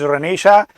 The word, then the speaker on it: Renaissance: Sometimes people call it Renaissance. Sometimes it is pronounced as Renaissance. All the pronunciations are wrong. The right pronunciation is Renaissance, which means Punarjagran.